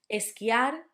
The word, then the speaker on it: esquiar: Esquiar, to ski, had the qui, no esquiar, esquiar.